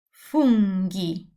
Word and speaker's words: funghi: If I have a H, it's always hard.